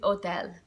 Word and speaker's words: hotel: really make the difference so hotel for us a hotel is hotel I don't really hear it okay and plus we